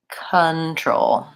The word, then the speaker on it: control: The stress is on the second syllable. So I don't say control or control. That O doesn't say O. It says the schwa. It sounds like control.